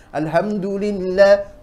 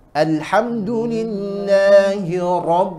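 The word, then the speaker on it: الحمد لله: nah itu bahaya sekali Alhamdulillah salah al ha Tengah tenggorokan puasa Tengah tenggorokan alhamdulillahirob roknya tebalkan seperti itu cara membacanya Alhamdulillah sukun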